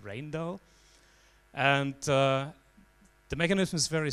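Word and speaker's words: Rijndael: if you read this letter in fact it's pronounced rain though and the mechanism is very simple it's basically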